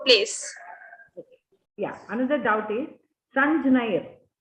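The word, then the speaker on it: संज्ञैः: Songyair, something like that. So that is also okay. In Maharashtra we pronounce like that only. Sanjnair. Sanjaya. Heard as Sanjnair. Sangyair.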